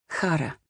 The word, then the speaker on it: Chara: Her name means joy, Chara, with a silent C.